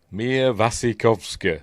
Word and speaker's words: Mia Wasikowska: We are looking at how to pronounce Mia Wasikowska. Right. Mia Wasikowska.